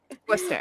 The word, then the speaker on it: Worcester: So I was about to say, how do you pronounce the name of your hometown? Worcester.